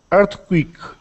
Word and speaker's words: earthquake: on next word uh earthquake earthquake earthquake so that th sound your tongue is sticking out of your mouth earth earth quake earthquake and make sure you don't roll your r's so not i can't